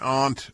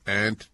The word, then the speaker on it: aunt: She sat next to an aunt, or aunt, depending on how you pronounce A-U-N-T.